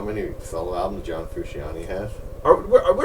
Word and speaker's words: Frusciante: No one gives a shit about John Frusciante.